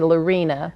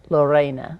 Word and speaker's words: Lorena: you say my name most people say Lorina but I love Lorena Lorena and is it